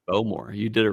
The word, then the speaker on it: Bowmore: I love well pronounced cuz it's not Bmore. It's Bowmore.